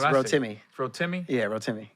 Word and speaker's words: Rotimi: timmy didn't i well some people say rotimi but it's real timmy throw timmy yeah real timmy yeah my fault we had our first conversation end of 2017.